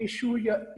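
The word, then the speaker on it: issue: इसको इशू या इश्यू दोनों तरह से प्रोनाउंस कर सकते हैं आप, दैट इंटरफियर्स विद कम्युनिकेशन।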